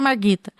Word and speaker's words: Margita: Então, Twitter, se você tá ouvindo essa parte da doutora Marguita, você fala, doutora Marguita. É assim, não tem o U, tá, gente? É Margita que se escreve.